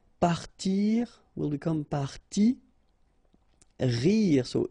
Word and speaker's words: parti: So I, partir, will become parti. Rire, so IRE, will become ri. Okay, and then the IT, phonetically you pronounce I because final T is not pronounced, but still.